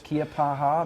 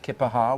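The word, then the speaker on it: Keya Paha: it's Kiapaha. Many pronounce it Kippaha.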